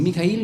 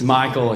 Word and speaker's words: Mikhail: Mikhail is in Russian. No, you in Russian are called Mikhail? Okay, Mikhail. The full name. Okay. Mikhail. I like it more. It sounds cool. Michael, it's American.